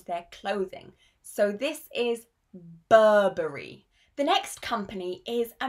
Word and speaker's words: Burberry: the most important British brands and their correct pronunciation. So the first brand is Burberry.